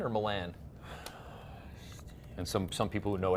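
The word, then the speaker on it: Miran: Myron.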